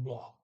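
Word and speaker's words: blå: a circle over it when you have an a circle at the very end of the sentence you can very hear hear the ah a longer sound and they got plenty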